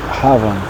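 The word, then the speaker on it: Havah: Então Adão é Adão e Eva é Rava. Ravan, né? H A V A H, né?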